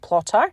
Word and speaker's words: Plottr: And for those of you who might have missed episode 57 with Troy Lambert, education lead of Plotter, and that's spelled Plottr, on Plan Your Books